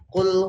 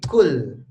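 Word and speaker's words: قل: huruf q akan tetapi ada sebagian orang membacanya diganti jadi kul ya Jadi pakai k diauallahu pakai huruff nih ya Antum paham ya maksudnya perbedaan ya Harusnya kan Qul pakai Q tapi ini malah pakai Kaf ini ini kesalahan yang sangat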